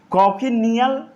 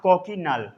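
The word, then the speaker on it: cochineal: तो prickly peer cactus अपुंसिया destroyed by कॉकिनियल, क्या पढ़ते हैं, कॉकिनियल या कॉकिनल, ए को साइलेंट कर देते हैं, कॉकिनल, कई लोग इसे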